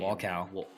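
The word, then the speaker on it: Wolkow: Oh, how do you pronounce his last name? Walcow.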